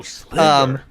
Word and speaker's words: Sliver: His name was Sliver. Oh, Sliver. So we literally called him Silver for like 2 years, and his name was Sliver.